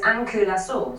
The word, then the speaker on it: Ankylosaur: Well, the pronunciation we have is ankulasaur, so ankles are sore.